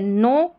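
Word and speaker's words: know: एन ओ डब्ल्यू इसको नो पढ़ा के एन ओ डब्ल्यू को नो नो ठीक है के यहां पर साइलेंट है नो नो और ले एल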